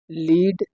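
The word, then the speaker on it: lead: माने शीशा होता है स्पेलिंग सेम है लेकिन इनका प्रोनंसिएशन अलग-अलग है और लिखे सेम ग मीनिंग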